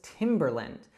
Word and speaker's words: Timberland: Now, in the United States, we would call this Timberland.